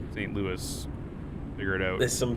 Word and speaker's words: St. Louis: Yeah, so Louisville is Louisville, but St. Louis is St. Louis.